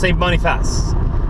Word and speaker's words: St. Boniface: It's actually pronounced St. Boniface. St. Boniface, I believe.